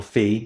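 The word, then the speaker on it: Phi: mini class is Microsoft's five I or fee depending how you want to pronounce it 3.5 Vision model which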